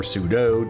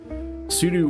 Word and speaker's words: sudo: All right, so next up we have the command sudo, or sudo, depending on how you want to pronounce it. Sudo or sudo stands for